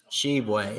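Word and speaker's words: Tshiebwe: they use it as motivation and momentum so shebway is how you say it leads the ncaa 15.3 rebounds per game oscar shibway for kentucky in alabama what they have to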